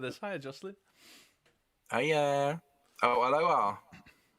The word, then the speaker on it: aloha: Oh, aloha. Aloha. Aloha. That's how they say it in Hawaii.